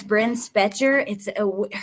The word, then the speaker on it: Bryn Spejcher: And Tuesday, her name is Bren Specher. The spelling of her name is weird. So I had to really think about it and listen for how they pronounced it.